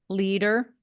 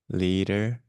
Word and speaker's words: leader: e d e r don't pronounce the a really think of it as almost like a double e double e okay thank you thank